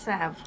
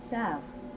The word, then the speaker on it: salve: Okay, it says it's salve. Salve. Yeah. So it's salve. The L is silent.